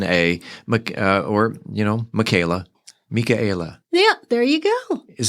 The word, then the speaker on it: Mika: You pronounce it Mika. Mika.